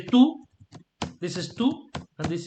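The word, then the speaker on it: tout: means everything or all so you say two you don't pronounce the t okay two and the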